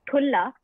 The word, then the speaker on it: thulla: So the word thulla, T-H-U-L-L-A, thulla. Thulla, thulla. Got an H.